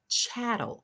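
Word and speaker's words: chattel: always memorize this word the word is chatt it rhymes with cattle okay remember that okay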